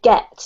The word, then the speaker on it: get: Just this one, just be careful of this really hard G here with get, okay? So it's a G, get muddy.